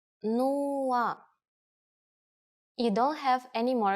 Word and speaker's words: нула: It's similar to one of the versions of zero in English, but with a different pronunciation. Нула. Нула.